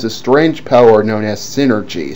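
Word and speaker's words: Psynergy: strange power known as synergy, spelled with a silent P in front as in psychic.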